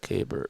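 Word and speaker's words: Keibert: He just pronounced it. Kbert Ruiz.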